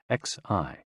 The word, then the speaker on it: xi: And XI, pronounced like shi, which connects the whole body.